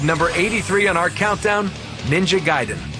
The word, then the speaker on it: Ninja Gaiden: i'll be pronouncing them i thought it was ninja gaitin but ninja gaiden it's like one of